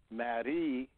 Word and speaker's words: Marie: In French, it's pronounced Marie, and all you have to do is spend enough time thinking about this process.